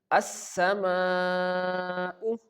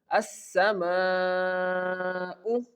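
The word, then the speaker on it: السماء: So, here we have to stretch this word for four counts.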